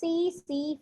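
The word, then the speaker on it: tsetse: One is man and other one is CC fly. It is called as CC fly. T is silent. You should not pronounce this T.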